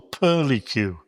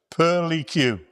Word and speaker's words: purlicue: It's called the pearly cue, all right? I don't know if any snooker players have heard of it, but it's spelled Purlicue. Now that Q bit at the end, it just tells you pearly cue.